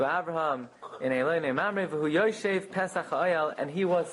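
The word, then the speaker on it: ישב: Even though we pronounce it Yoshev, he was sitting, but it's written Yashav, that he sat.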